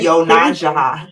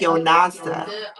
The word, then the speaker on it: YoNasDa: do you spell it why it looks nothing like how it's pronounced it's y o n a s yeah it looks like y nasda but it's yaha it's actually Navajo and